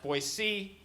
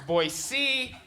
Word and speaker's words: Boise: I work in Boise, Idaho once a year, and the first time I worked there, they're like, actually, it's pronounced Boise. It's Boise.